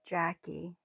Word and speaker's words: Jacquie: It's Jacquie. It's just spelled differently, but it's just Jacquie.